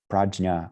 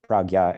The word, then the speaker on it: prajna: reality as it is, prajna or pragya, as they say here in the northern Sanskrit pronunciation here in Nepal.